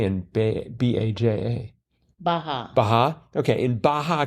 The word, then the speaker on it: Baja: How do you pronounce that J in B-A-J-A?